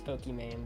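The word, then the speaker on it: Pokimane: not even showing it that person's name is pokeyman but it's spelled p-o-k-i-e i was like just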